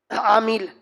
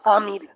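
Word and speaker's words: عامل: بیان چل رہا ہے۔ عامیل آدمی کا، عامی عین کے ساتھ عامیل۔ اب تو مجھے تکلیف کیوں دے رہا ہے، تیری طرح تلفظ کروں۔ عین نکالنا کتنا مشکل ہے، ہاں وسطی حلق پر زور دینا پڑتا ہے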